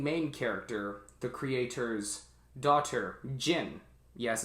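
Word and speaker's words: Jyn: character the creator's daughter gin yes it's pronounced as in the liquor brand jen and the robot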